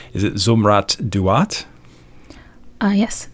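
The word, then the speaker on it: Zumrat Dawut: Here's some more pronunciation. Is it Zumrat Duat? Yes, Zumrat Duat.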